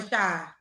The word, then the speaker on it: Rasha: I keep having Rashad, right? Like Tasha, you could say Tasha but with the R. Like Rasha. Oh, that's right. Tasha with R. So Rasha.